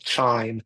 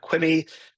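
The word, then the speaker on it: QIIME: the development of a piece of software called Chime. It's spelled q i ne. Um a lot of people call it quime.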